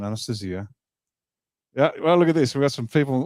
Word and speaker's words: Anastasia: of books called Anastasia in English we'd Say Anastasia but it's pronounced in Russian Anastasia yeah well look at